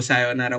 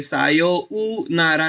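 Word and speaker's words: さようなら: तो सायोनारा कैसे प्रोनाउंस करते हैं, सायो उ नारा नहीं बोलते, तो सायो नारा बोलते हैं। तो स्लाइटली वो उ सुनाई देता है, पर उसके लिए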